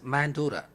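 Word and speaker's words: Mandara: It is pronounced in English as Mandura.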